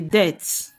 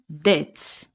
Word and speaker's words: debt: When you owe money, it is a debt. Note that this B is silent. We don't say debt, we say debt.